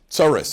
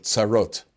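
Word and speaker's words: צרות: Tsaris, a person, yes, he got tsaris. Tsaris is just the mispronunciation of tsarot.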